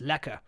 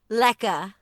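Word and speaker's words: lekker: I spelled l-e-k-k-e-r but we don't pronounce the r that's because you know English colonists so it's lacquer lekka okay so so and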